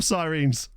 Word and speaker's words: Sirens: Yeah, it is technically pronounced Sirens.